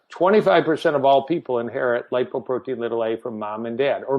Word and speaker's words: lipoprotein(a): We pronounce it lipoprotein little a.